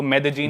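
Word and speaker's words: Medellín: उसकी एक सिटी है मेजीन। स्पेलिंग में उसमें डबल एल आता है। मेदलीन होता है। लेकिन कोलंबियन स्पैनिश में ल बोलते हैं। तो मेदजीन वो शायद उसकी मेन सिटी है ना उस कंट्री।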